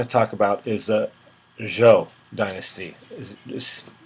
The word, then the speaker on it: Zhou: I really want to talk about is a Zhou dynasty is pronounced Zhou even though it's uh we might pronounce it